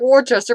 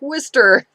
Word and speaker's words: Worcester: put us Proust Gloucester nor looks like worchester but it's pros like Worcester don't get me started